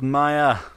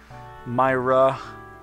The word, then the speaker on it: Myra: you like them apples maya that's not maya why'd i say my myra myra yeah myra that's right i'll get your name